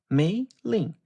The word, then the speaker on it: Mei-Lin: It is not a complicated name. 2 syllables, Mei-Lin. The English language contains the word mailbox. It contains mainland. It contains mayonnaise. The sounds are there. The mouth already knows how to make them.